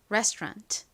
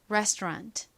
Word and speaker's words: restaurant: restaurant. 한국식으로는 끝 부분을 랑 이렇게 보통 발음하지만 실제 영어 발음은 랑이 아니라 rant에 가깝습니다. rant. 그런데 끝에 t는 아주 약하게 거의 소리가 들락말락하게 발음이 돼요. restaurant, restaurant 이렇게 발음합니다.